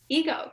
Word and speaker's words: Égo: It's pronounced kind of like the waffles. Although it's spelled with one G, there's an accent over the E. So a lot of the times, you know, people say ego, and it's funny because